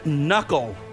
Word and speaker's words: knuckle: shac all right Carrie your word is knuckle the K yes one to one Robert